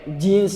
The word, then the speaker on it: jeans: mubah boleh mau pakai jeans tuh kan serem banget ya pakai Jin pakai Jin pakai iblis pakai setan jans dibacanya jeans bukan Jin ya pakai Jin pakai